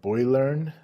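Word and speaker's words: Boilearn: founder and CEO of Boylearn. I'll spell that out. B O I L E A R N. It's a combination of boiler and learning words together.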